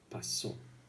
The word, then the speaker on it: pasó: part of the word, because if you say ¿qué pasó?, you won't be understood. It has to be pasó. We stress this part.